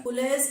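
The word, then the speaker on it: collage: कॉलेज के spelling हुआ करते हैं COLLEGE, तो यहाँ EG नहीं है बल्कि ये कॉलेज नहीं बल्कि कोलेज है।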